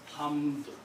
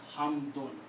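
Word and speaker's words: حمد: When you're speaking this word and you don't want to continue, you stop, then only then you will pronounce this hamd. But if there's another word after that and you cannot stop, you have to pronounce hamdun.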